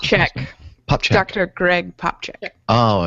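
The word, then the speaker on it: Popcak: Greg Popcat or Popcat? Popcat? How do you pronounce it? Popchak.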